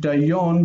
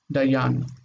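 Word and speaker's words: דַּיָּן: So if you left the kamatz, it would be O, dayon. You don't want dayon because it would be a closed accented, closed unaccented syllable. It needs to have a short vowel. That would be O. So it switches to patach to keep the ah sound. Dayan.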